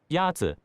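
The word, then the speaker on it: 鸭子: Yazi is pronounced with a first tone. In Mandarin, there are 4 tones, which are essential to distinguish the meaning of words. The first tone is a high-level tone.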